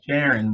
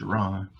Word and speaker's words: Sharon: Looks like Sharon, but it's pronounced Sharon.